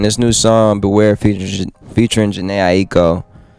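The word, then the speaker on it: Jhené Aiko: Man, this new song, Beware, featuring Janae Aiko. People don't know how to say her name right, Janae Aiko.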